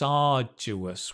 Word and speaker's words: arduous: very very arduous work can you say that with me arduous it's a archer archer arduous it's arduous work one more time and the stress is on the r you know when you see the dentist ah same it's arduous work nice